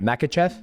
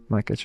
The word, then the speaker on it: Makhachev: How do you pronounce? I want to make sure I say your last name right. Makhachev. Makhachev. Yeah. Makhachev. I don't want to get into a fight right now. Makhachev, but Makhachev, but US people say Makhachev.